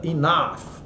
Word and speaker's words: enough: Ó, olha a pronúncia, totalmente diferente, né, da escrita enough, né? Enough, entre o I e o O aqui, né?